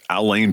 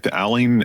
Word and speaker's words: Alain: name I think it's Alain Paul Alain am I pronouncing that right alen alen alen yeah a l a i n Paul yeah it's the French version of Allen except he's British so